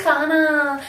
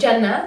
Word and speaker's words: Jana: Don't get all authentic and ethnic on me like, no, I want to call you Khana, because that's the way that your mom said. No, she does not say it like that. She says Jannah, and unless you can say the word Jannah, just call me Jana.